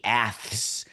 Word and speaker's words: A's: And this year, we were all told that it's the Aths.